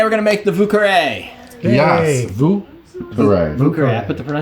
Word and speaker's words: Vieux Carré: Today we're going to make the Vieux Carré. Yes. Vieux Carré. Vieux Carré. I put the pronunciation key in there. Oh, look at you. This is the French. Vieux Carré. It's like Vieux, V-O-O. Vieux Carré.